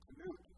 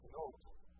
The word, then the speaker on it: Knuth: My name is Knuth, but that's an Americanized pronunciation. If you know the Dutch language, it needs to be Knoot, right?